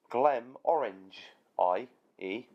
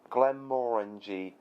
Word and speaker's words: Glenmorangie: this make sure you don't upset them by saying so like Glenn orange i.e thinking the M is silent and that is actually the word orange e Glenn orange II know Glenmorangie mean closer Glenn pronounced more and the gbng perhaps is Jay so glum Ranji more G kickin it you know